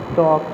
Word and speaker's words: talk: You have to pronunciate it where the silent things are given like that, like we pronunciate talk, the L is silent like that, walk, that is L is silent.